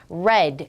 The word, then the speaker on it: read: read. have랑 어울리는 읽었다를 찾는데 스펠링은 똑같지만 발음은 바뀐다 했습니다. read.